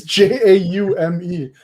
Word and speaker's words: Jaume: Okay, it's spelled stupid. So Jamie Call It Sarah. It's Jaume. Jamais.